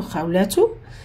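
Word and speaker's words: خولة: Peut-être c'est écrit Khawlatun ou Khawlatu, mais quand on va arrêter sur ta marbuta, on arrête avec ha. Comme quoi ça s'écrit comme ça à la fin. On oublie les deux points et on dit Ismi Khawla.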